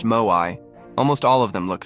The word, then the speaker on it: Moai: The locals call them Moai, pronounced Moai.